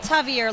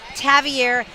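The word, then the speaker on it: Tavierre: this year tavier Thomas it's not tavier Levy Smith wants to make sure everybody knows his name is pronounced tavier he had a pick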